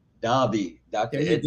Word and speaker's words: Daube: Ed, I don't know if I pronounced your name wrong. Daube. Daube.